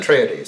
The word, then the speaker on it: Atreides: You have the forces of the House of Atreides, do you pronounce it? Atreides.